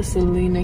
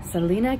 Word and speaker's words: Salina: And I've made it here to the Salina, Kansas KOA. Oh, I think it's Salina, actually. I wasn't saying it right.